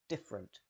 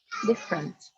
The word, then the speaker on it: different: generally pronounced chocolate chocolate finally indifferent the first e almost always disappears so you link directly from f to r different different different how did you